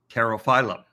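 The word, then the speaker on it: Pterophyllum: terrifiedo so terrify them in this case the p is silent and you just say terra phylum so if we look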